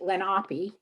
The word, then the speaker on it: Lenape: yearbook is entitled um they say they pronounce it lenape and the school new